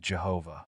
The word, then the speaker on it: Jehovah: did not include vowels some scholars believe it should be pronounced Yahweh While others think it should be Jehovah this uncertainty has added